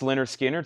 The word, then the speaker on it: Lynyrd Skynyrd: I also have a restock of Leonard Skynyrd pronounced Lynyrd Skynyrd 69.99 we just got these in I think